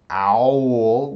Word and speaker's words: owl: parts so now this when we say the word owl owl we can kind of hear two vowel sounds but actually this is only one syllable owl owl owl in English so although you can hear two two vowel sounds together we call that one syllable owl it's gonna get